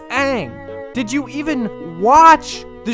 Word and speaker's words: Aang: call each other by these mispronounced names like aung the monk's name on that no it's aang did you even watch